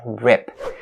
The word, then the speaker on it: rip: talk about the word rip. So, its vowel is, make sure you guys understand this, is the short E sound and it's not the long E sound.